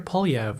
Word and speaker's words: Poilievre: Poly. Pierre Polyv was born on June 3rd, 1979 to a 16-year-old mother in Calgary, Alberta.